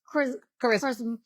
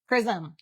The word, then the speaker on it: charism: It's charism. I know. Charisma. The thing you dropped the A. And that's hard for me as an American to drop the A off of that.